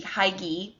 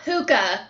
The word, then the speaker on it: hygge: Looks like it should be hygge, but it's actually pronounced hygge. I looked it up. Not hookah, y'all.